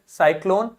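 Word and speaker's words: cyclone: cider ध्यान से समझो यदि सी के बाद में ई आय या फिर वाय साउंड आ रहा है ई आई या फिर वाय साउंड आ रहा है तो वो साउंड एस का देगा स साउंड देगा लेकिन यदि कॉन्सोनेंट आ रहा है तो का का साउंड देगा साइट सेंचुरी साइकल प्राइस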